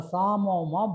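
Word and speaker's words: psammoma: So this is called a Samoma body. P is silent.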